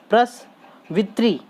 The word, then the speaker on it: प्रसवित्री: तो यहाँ पे देखिए प्रसवित्री, त के नीचे री की मात्रा है तो वित्री बोला जाएगा।